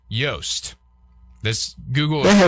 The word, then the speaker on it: Joost: Kind of how Louis Oosthuizen is. I would go Joost. Like kind of like that. Pronounce. Let's see. Joost. Yost. Yost.